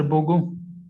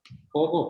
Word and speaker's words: pogo: क्या सर बोगो? तो स्पेलिंग बोल दीजिए। पोगो पोगो POGO।